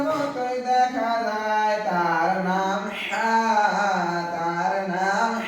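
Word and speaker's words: حاء: হা উচ্চারণ করতে হবে লম্বা হা উচ্চারণে গলার মধ্যে শোষ করে শব্দ হবে লম্বা হা উচ্চারণে গলার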